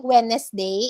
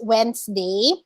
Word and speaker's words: Wednesday: tom not tom tomb wednesday we don't say wednesday when this day it's wednesday picture was correct uh